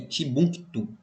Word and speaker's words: Timbuktu: São palavras de pronúncia árabe que às vezes distorce a língua e a fonética da gente. Djené e Timbuktu.